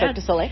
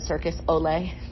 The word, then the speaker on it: Cirque du Soleil: Because we're doing the article on Cirque's, I can't pronounce. Cirque du Soleil. Cirque du Soleil. Okay. We have a running joke that all of the family members of Cirque employees call it Circus Olay.